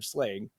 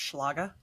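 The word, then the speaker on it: Schlage: myself out somehow so did you guys know that it's actually pronounced schlaga no I had no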